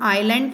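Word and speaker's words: island: Ceylon is, ये important है, आइलैंड, इसको हम आइलैंड प्रोनाउंस करते हैं, अ से स्टार्ट होगा ये, इसीलिए यहाँ पर अ है जो हमारा स्वर है, इसीलिए यहाँ पर आ जाएगा एन।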